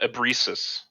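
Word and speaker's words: Ebrisis: town's name again the town is uh uh abreesus e-b-r-i-s-i-s b-r-i-s-i-s and what did you guys roll for initiative 16 i had 13.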